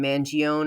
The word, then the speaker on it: Mangione: American from New York I pronounce his last name mangion I'm sure many people from the tri-state area in New York say it the same way and that's how I'm